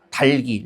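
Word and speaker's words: 닭이: 그래서 얘는 어떻게 발음해야 돼요? 다기가 아니라 달기. 리을이 빠질 이유가 없죠.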